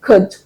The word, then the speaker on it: could: pronunciation of those words there is no L sound. You don't add the L sound. So you say could, would, should.